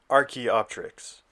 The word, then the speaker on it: Archaeopteryx: completely butchering that name i decided to look up what the actual pronunciation was and it is the archaeopteryx the art shops no